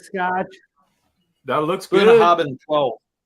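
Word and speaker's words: Bunnahabhain: impossible to don't know pronounce Scotch? That looks good. Bunahaben 12. Bunahaben.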